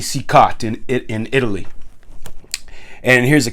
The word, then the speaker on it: Cicotte: And when they talk about him, they pronounce it Cicotti. So I changed my pronunciation to Cicotti. I don't know if that's right or not. I mean, it makes sense. You know, us Italians, our names end in a vowel. It wouldn't be Cicotte in Italy.